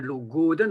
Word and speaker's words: logoden: Dans le léon, on peut considérer que l'accentuation, elle est sur l'avant-dernière syllabe. Si par exemple, je prends ici le mot logoden qui veut dire souris, ce serait logoden, on appuie sur l'avant-dernière, donc sur go.